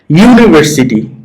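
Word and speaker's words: university: যেমন ইউনিভার্সিটি, সামনে ইউ উচ্চারণ হয়েছে, তাহলে এটা কনসোনেন্ট সাউন্ডের জন্য এ বসাইছো।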